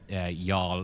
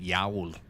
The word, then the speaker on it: y'all: Actually, I pronounced y'all wrong there. I called it Yowl. Tis actually y'all.